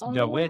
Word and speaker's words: Dawid: So in Poland, when David, it's spelled with a W, right? So if you actually sound it out, it's Dawid.